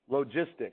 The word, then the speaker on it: logistic: of functions which are called logistic that's a soft G so that's not a log function that's a logarithmic function this is logistic a logistic function so